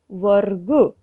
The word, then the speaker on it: वर्ग: स्पष्ट रूप से कि जो रेफ र है वह ग के ऊपर लिखा हुआ है और उसका उच्चारण ग से पहले हो रहा है।